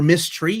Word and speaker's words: Miss Tree: Or Miss Tree, if you've not read Miss Tree, it's being published by MISS Tree. Yeah. That's get it? Yes. Like mystery, but it's spelled MISS, like Miss.